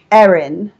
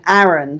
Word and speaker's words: Erin: his mother is called Erin, and his father's called Aaron. But in America, they pronounce Erin, Aaron, so they're Aaron and Aaron.